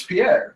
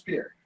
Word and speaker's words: Pierre: Because our capital is Pierre. Yeah, But yeah, That's I know. that's not the name. It's Pierre. Well, the name is Pierre.